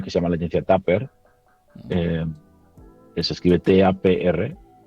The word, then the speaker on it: TAPR: que una licencia que se llama la licencia Tapper, eh, que se escribe TAPR, y, y casi en paralelo pues